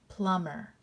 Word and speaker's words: plumber: doesn't say anything so plum er plumber mb just says um so let's sound this